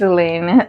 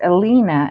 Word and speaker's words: Elina: Thanks, Elena. Elina. Doug told me Doug said that you your name is pronounced Elina and I've been mispronouncing it.